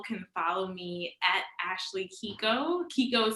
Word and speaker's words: Keiko: that keiko right well so it is a japanese name which is traditionally pronounced keiko but my family has always pronounced it as kiko so that's kind of